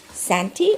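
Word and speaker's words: kṣānti: The third is forbearance, or in Sanskrit called santi, or ken. How do you pronounce that?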